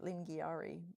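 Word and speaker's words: Lingiari: Lingari is how we pronounce it.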